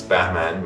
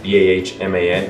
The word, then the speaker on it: Bahman: has an easier name than i do it's batman meaning nobody can pronounce it uh but i've gotten used to it so yes my name is batman b-a-h-m-a-n not batman and it's a very pure persian